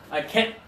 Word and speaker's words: can't: I can't. I can't. Now be careful, the t is not there, but you're getting close. Can't. Can't.